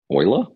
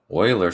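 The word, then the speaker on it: Euler: some weird thing about it you or something Oiler Oiler starts yeah what's it called Oiler starts with a e spell it e u l e r I think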